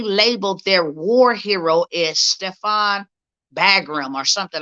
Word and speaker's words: Stepan: y'all to see something his name is stefan uh stepan i think that's how you say it um bandera that's his